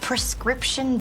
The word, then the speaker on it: prescription: Scription, c'est syllabe qui accentue. OK, c'est avant chaîne ça, syllabe ça, c'est les mêmes qui accentuent.